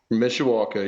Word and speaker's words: Mishawaka: you're in Mishawaka is that the right Town Mishawaka yep okay and did you grow up in Mishawaka yeah born and raised man okay and that